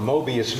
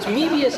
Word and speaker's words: Möbius: It's MO umlaut. Medius. Oh, okay. Okay, it's pronunciation. Same word, different pronunciation. Medius. Forgive me for being American. Excuse me. Well, it's Moebius in the same sense that amoeba is.